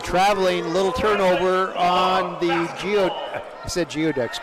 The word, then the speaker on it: geoduck: And traveling, little turnover on the Geoducks, Gooey Ducks. Why don't they spell it Gooey Ducks? Why is it spelled?